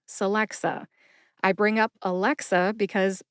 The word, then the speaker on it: Celexa: is the brand name Celexa Celexa has three three syllables sxa about 10 years